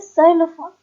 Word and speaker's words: xylophone: तो जाइलोफोन की स्पेलिंग जो होती है वो एक्स से शुरू होती है, ठीक है। तो XYLOPHONE इज जाइलोफोन, ठीक है।